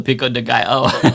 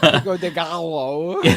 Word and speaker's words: Pico de Gallo: David, love you long time, but Gallo, you don't get a Canadian pass for that poor pronunciation. Oh, the Pico de Gallo. Pico de Gallo.